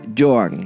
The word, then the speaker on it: Johan: Se dice Johan. Como Joan Collins, pensé en Joan Collins, pero en este muchacho.